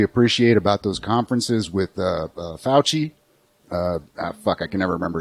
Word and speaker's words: Fauci: That's the only thing I truly appreciate about those conferences with Fauci.